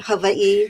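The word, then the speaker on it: Hawaiʻi: Don't ask me why I've spent almost 40 years here, but I often say that Havi, which again is the correct pronunciation, you pronounce every single letter.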